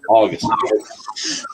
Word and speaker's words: Augustin: It's Augustin. Don't pronounce the T. So Augustin.